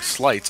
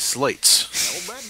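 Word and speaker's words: sleights: beginning of his name I am sorry that we've been pronouncing slights as slates go for you I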